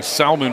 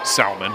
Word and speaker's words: Salmon: By the way, Salmon does spell her name like salmon, S-A-L-M-O-N. And it always annoyed me when people would call it Salmon, but that is her last name, pronounced Salmon. Salmon. It's not the same.